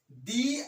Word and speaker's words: the: এর উচ্চারণ হবে দি।